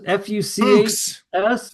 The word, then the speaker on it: Fuchs: Were they pronouncing it Fuchs? F-U-C-H-S or Fuchs?